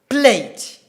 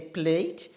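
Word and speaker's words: plait: We have P-L-A-T-E, plate, we say plate, and we have P-L-A-I-T, incidentally we say also plate. But the typical British people or the typical RP accent will say plat for P-L-A-I-T.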